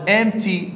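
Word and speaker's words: empty: ذا باثروم والحمام واز امتي 2 شنو ت يعني ايضا او كذلك شنو امتي معناها فارغ ملاحظه هذه البي ما تلفظ فتقها ام تي ام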